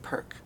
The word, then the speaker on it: PERC: by the it goes by the acronym perk perk perk p-e-r p-e-r-c prc that's right um let's talk